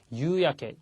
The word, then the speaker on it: 夕焼け: 다음에 나와 있는 게 유야케, 유가 깁니다. 발음이 장음이고요. 주의를 해주십시오. 자, 유야케 그러면 저녁 노을입니다.